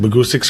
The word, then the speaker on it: Bahgoostyx: acoustic boguses it's just magoosics or rhymes with acoustics that's where it pretty